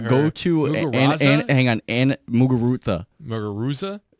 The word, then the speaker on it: Muguruza: Go to hang on, Muguruza. Muguruza? You don't even pronounce a Z. It's pronounced a TH. Muguruza.